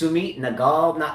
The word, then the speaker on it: Sumit Nagal: If Raj Kumar is out there, he would know, but it's Sumit Nagal. That's pretty cool. Yeah. Not Nadal with the D, awesome. but Nagal with the G.